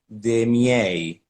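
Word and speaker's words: de' miei: nowadays but in the ancient world version is demi-a and it's a closed e but le then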